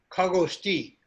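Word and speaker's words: खगोऽस्ति: This S is not S, but it stand for missing O, so that you know there is sandhi. And you don't pronounce this S, because this is only symbol, just a sign to tell you that wo is missing. The O is missing.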